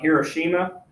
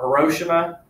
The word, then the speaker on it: Hiroshima: So on August 6, 1945, the first bomb would be dropped on Hiroshima, or Hiroshima, however you say it. Hiroshima. I've heard it pronounced both ways.